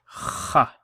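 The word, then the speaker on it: خ: on the top, and this is pronounced as kha. Kha with a fatha on top. Kha. And the easiest way to remember this is kha, like you're clearing phlegm, and that phlegm has come out.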